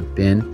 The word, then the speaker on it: been: Instead of where have you been. That's spelt correctly, B-E-E-N makes more sense with bean, right?